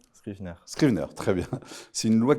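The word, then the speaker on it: Scrivener: Euh en 79, il y a eu une loi appelée la loi, alors je sais pas comment la prononce, Scrivner. Scrivet, Scrivner. Scrivner, très bien.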